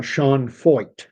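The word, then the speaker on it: Sean Feucht: And we've seen a little bit of that with this guy uh Sean Fo. And that is how you pronounce his name. Fe ht, but it's pronounced fo like fo. Uh Sean Fo is a an American Christian missionary of of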